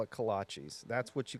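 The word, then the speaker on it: kolache: Well, at first he just he really thought they were called kalashes. That's true. And then he just kept saying it and I was like, no, they're kalachis.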